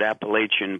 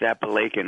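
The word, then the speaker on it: Apalachin: called appalachin uh it it looks like you want to pronounce it Appalachian but it's pronounced appan up there uh lived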